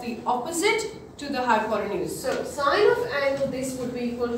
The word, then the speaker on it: sine: just write si and never ever call it sin I don't like it it's sign what is it all